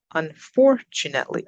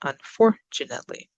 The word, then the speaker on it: unfortunately: Unfortunately, up on the second. Unfortunately.